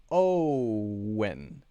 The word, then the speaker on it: Owen: Owen. Owen. Owen. Owen. Own. Owen. Own. Owen. Owen is 2 syllables, so that makes it easier.